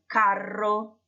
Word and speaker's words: carro: a vibration ok and put some stress on it make it a strong are so try please to pronounce those two words I wrote for you on the slide the word Italian is la guerra la guerra and the chariot is ill karo ill car ro ro G seat difference with